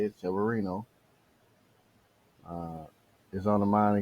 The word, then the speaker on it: Severino: Lewis Reno Severino that's how to say it Severino uh is on the Mind against colon rear